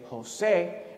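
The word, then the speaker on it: José: Like the name Jose has an accent right there on the E, so that you say Jose and not Jose or Jose, right?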